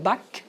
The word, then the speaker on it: Bach: Les Français disent Bach, moi je dis Bach, parce qu'en Suisse, il y a aussi la langue nationale allemande, donc je le prononce à l'allemand.